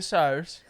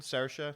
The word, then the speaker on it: Saoirse: Okay, so it's Saoirse with an E sound. Saoirse.